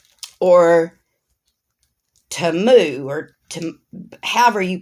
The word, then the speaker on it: Temu: unbagging and these are items I got from Teemu or TAMU or to however you pronounce it I've heard it pronounced two different